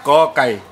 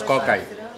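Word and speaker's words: ก ไก่: A primeira, kokai. Pronunciamos kokai.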